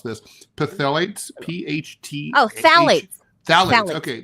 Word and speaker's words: phthalates: I don't know how to pronounce this. Phthalates, P-H-T.